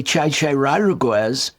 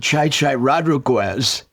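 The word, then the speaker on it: Chi Chi Rodriguez: And so there's a team named Chichi Rodriguez Energy Bands, but we always pronounce it Chai Chai Rodriguez Energy Bands.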